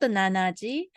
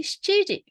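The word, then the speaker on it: 七時: So 7 o'clock is not 7時. We will say 7時.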